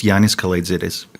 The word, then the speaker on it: Yiannis Kalaitzidis: It's Yiannis Kalaitzidis.